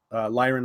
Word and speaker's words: Lyran: mech warriors especially in valerian alliance or lyran alliance sorry uh yeah i've been i've been saying it wrong for over a decade because i only ever was the person who read these books it takes a while to unlearn that uh the federated sons